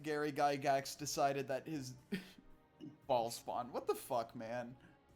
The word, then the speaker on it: Bhaal: Also, for everyone who wants to know what ball is spelled like this.